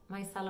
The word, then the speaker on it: micellar: cleaner and one is the micellar you pronounce it my style of water and the